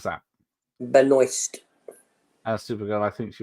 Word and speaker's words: Benoist: How do you pronounce that? Benoist.